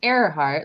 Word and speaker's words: Earhart: And, her last name is pronounced Earhart, like the man in the painting's looking up in the air, but it's spelled with an E.